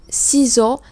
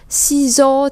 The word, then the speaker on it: ciseaux: Ciseaux thì các bạn để ý là âm S này không được đọc là S mà được đọc là Z.